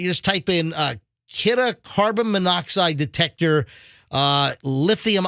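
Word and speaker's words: Kidde: know the fire extinguisher company k-i-d-d-e it's it's pronounced kitta and if you search for it I bought mine on Amazon but if you search for it you just type in uh kitta carbon monoxide detector uh lithium ion uh sealed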